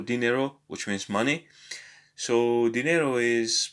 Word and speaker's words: dinero: So the second to last syllable usually receives the stress. For example, here there is no accent for dinero, which means money. So dinero is pronounced dinero.